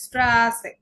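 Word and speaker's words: Straße: এরপরে হচ্ছে asset, double S হচ্ছে এসেট। উচ্চারণ কিরকম হবে? ছয়ের মতো। এক্সাম্পল হচ্ছে স্ট্রাসে, স্ট্রাসে।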